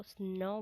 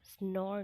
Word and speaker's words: snore: स्नो बोलते हुए ध्यान में रखिए, इसको स्नो बोला जाएगा, स्नोर नहीं, स्नो, खराटे लेना।